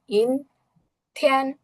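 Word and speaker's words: 阴天: তো আমাদের cloudy day এর উচ্চারণ কি হবে? ইন থিয়ান, ইন থিয়ান।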